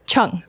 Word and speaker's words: Cheung: say your last name Chuck Chuck so the e is silent okay I just you